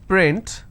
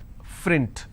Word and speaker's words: print: example if i have the word which is print lot of people pronounce this as frint so that is where the mistake happens okay there's some people